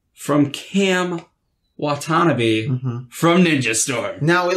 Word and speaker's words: Watanabe: Right, but Watanabe is the correct pronunciation, so that's what we are going to use from now on.